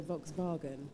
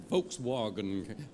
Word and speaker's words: Volkswagen: Might be able to pronounce Southall, but I can't pronounce Volkswagen. Well, you could, if you were speaking with a German accent, you could go Volkswagen.